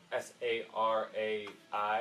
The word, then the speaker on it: Sarai: has his wife, and it's spelled S-A-R-A-I, so it's Sarai, something like that was pronounced before it was Sarah.